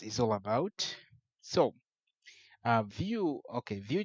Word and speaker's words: Vue: be read differently but in the industry it's pronounced as View so that's vue.js and